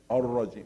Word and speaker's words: الرجيم: Only ra mufakhama. Do not make it ra. Repeat again. Ar-rajim.